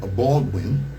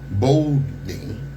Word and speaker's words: Baldwin: The photograph shows Bernita Baldwin. No, how you say her name? Bolding, okay.